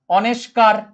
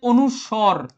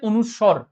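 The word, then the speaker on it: অনুস্বার: বলো এটার উচ্চারণ কি বলো সবাই দেখি এটার উচ্চারণ কি অবশ্যই এখানে বলবে অনেকে অনেস্কার অনেকে বলবে এটা অনুষ্কার ঠিক আছে এটাকে অনেকে বলবে অনেস্কার অনুষ্কার ঠিক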